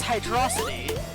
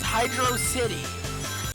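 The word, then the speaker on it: Hydrocity: like six years ago no it is not hydrosity it is hydro City you are an idiot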